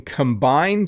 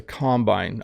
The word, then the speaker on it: combine: this is a combine notice the slightly different pronunciation you can combine two things but this is a combine i'm not even sure